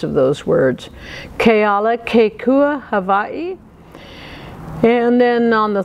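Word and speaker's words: Kealakekua: Let me give you the pronunciations of those words. Keala Kekua, Hawaii.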